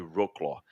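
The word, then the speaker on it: Wrocław: de rlw na Polônia eu acho que fala rlw w r o c l com corte no meio AW vou tentar pronunciar da melhor forma Universidade de R claw E eles encontraram ferramentas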